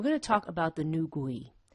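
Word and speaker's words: Nü gui: to talk about the new gui i hope i'm saying that correctly i've gone through several pronunciations to try to get that right but i think that is how it's pronounced and new gui refers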